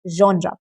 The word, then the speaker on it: genre: Genre. It is pronounced as genre, not genre. It is genre. The same pronunciation you see in the word vision.